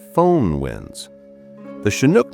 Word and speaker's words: Chinook: The shinook name, pronounced shinook and derived from sinnuk, the chahalis name for